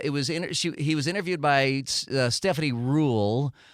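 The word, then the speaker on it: Ruhle: was interviewed by Stephanie rule I thought it was ruly but I heard her say her name it was Rule and uh it it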